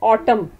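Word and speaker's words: autumn: अब आप देखें ऑटम के स्पेलिंग देखें, ए यू टी यू एम एन बोलने में है ऑटम, कौन सा लेटर जो है वो साइलेंट है। शाबाश, एन इज साइलेंट।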